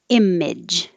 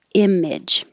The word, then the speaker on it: image: Image. It's spelled with a lot of vowels, but it's just IMIJ. Image.